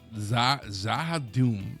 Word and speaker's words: Z'Ha'Dum: Oh, that's how you say it. I say Shaddam. Z'Ha'Dum. Z'Ha'Dum? Yeah, it's like Shaddam.